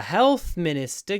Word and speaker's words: health minister: you notice Health Minister the stress is on the health health Minister Health Minister because it's a compound noun the second word becomes unstressed Health min Health Minister